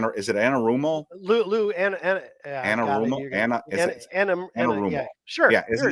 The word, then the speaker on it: Anarumo: That's why I will not completely discount them going back to Spags or I can't pronounce his name. Is it Anarumo? Lou Anarumo.